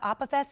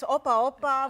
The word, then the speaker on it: Opa: So do you call it the Opus? Am I saying it wrong? The Opa? Yes, Opa, with a little, bit of energy.